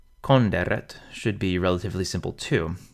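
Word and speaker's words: conderet: Konderet should be relatively simple too. The N and the D are split up, and the R begins the final syllable, konderet.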